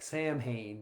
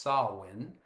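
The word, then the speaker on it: Samhain: the festival known as Sin, spelled S A M H A I N. It looks like Sam Hayne, but it's pronounced sawin.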